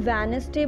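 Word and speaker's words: Wednesday: Listen everyone, D is silent hair. हम कभी भी वेडनेसडे नहीं बोलते हैं, हम वेडनेसडे बोलते हैं अगर हम इसका करेक्ट प्रोनाउंसिएशन करें तो डी इज़ साइलेंट हेयर।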